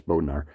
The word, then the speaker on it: Bodnar: um and that uh i've been saying it wrong oh yeah you know it's it's it's it's bodnar um and that this